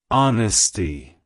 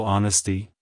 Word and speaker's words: Honesty: It's pronounced as honesty. Honesty. Honesty. To pronounce it correctly, emphasize the ahn sound at the beginning, followed by a short sound, and ending with stee. Like, hello honesty.